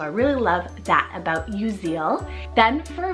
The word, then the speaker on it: Uziel: so I have the name uziel spell u-z-i-e-l you Zeal now this one means Jehovah is my strength